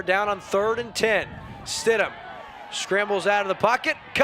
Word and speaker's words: Stidham: Shout out to our friend Ron Dugan watching from home, and he let me know it's not Stigman, it's Stidham, Riley Stidham.